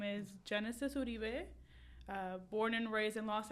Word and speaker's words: Genesis Uribe: Today in the studio, I have Genesisuribee. Did I pronounce it right?